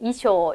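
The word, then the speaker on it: 衣装: 사실은 n1 인데요 그렇죠요 상자가 조금 헷갈렸을 것 같아 그죠 소라고 읽는지 쇼라고 있는지네 이쇼 이렇게 읽어야 겠죠 자 한자 표기는 어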